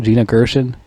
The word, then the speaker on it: Gina Gershon: That's how you pronounce her name. Gina Gershon.